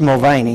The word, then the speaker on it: Mulvaney: Don't know for sure if that's the way to spell it, to pronounce it. I don't know if Jerry Davis knows or not for sure. It's Mulvaney, yes.